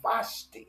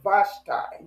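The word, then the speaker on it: Vashti: he had a queen, Vashi or Vashtai, depending on who you are, where you're at, how they want to pronounce it.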